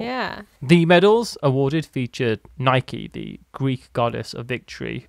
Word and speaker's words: Nike: By the way, we just call Nike in the UK, most of us. I'm only saying Nike because I think that's how you pronounce it when it's a Greek god.